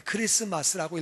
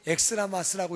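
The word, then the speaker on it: Xmas: 그래서 읽기는 그리스도라고 읽어야 돼요. 그 크리스마스라고 읽어야지 엑스트라마스라고 읽으면 안 되는 거예요.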